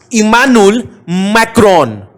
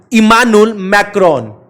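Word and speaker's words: Emmanuel Macron: भैया एक बार और ना इसका प्रोनाउंसिएशन करिए, इमानुएल मैक्रोन। इमानुएल मैक्रोन।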